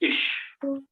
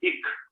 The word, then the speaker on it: ich: look like so the first person as i mentioned will be ish i request everybody to please pronounce this word correctly yes yeah i heard only one voice yeah because you know many times i have seen people sing as kick so i mean there